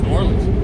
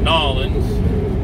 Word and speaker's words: New Orleans: She pronounced it New Orleans, not Nolans, not New Orleans, New Orleans, right? You're just putting less emphasis on the word new.